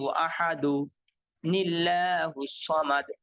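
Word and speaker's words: أحد الله الصمد: সামাদ কুলহু আল্লাহু আহাদু দালের মধ্যে এক পেশ দিবেন কুলহু আল্লাহু আহাদু লিল্লাহুস সামাদ হ্যাঁ আর যদি ওয়াকফ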